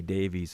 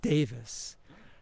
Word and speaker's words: Davies: you had with Ray Davies of the Kinks. So by the way, when you read the name, people refer to the last name as Davies, Ray Davies, but it's actually he pronounces it Davis.